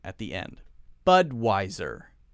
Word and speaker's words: Budweiser: sound at the end Budweiser Budweiser Bud why sir Budweiser notice that we're stressing the first syllable here but wiser now some people will pronounce this with a V sound visor visor but we say the clear W Americans like to use